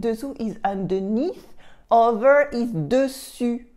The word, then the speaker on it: dessus: And dessous is underneath, over is dessus, dessus, dessus, dessous, dessus on top, and dessous underneath. Did you hear the U in dessus for on top, dessus?